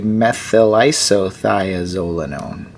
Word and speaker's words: methylisothiazolinone: Now we're going to say isothiazolinone. Next and last is methyl. We had just said isothiazolinone, and now we'll say methylisothiazolinone.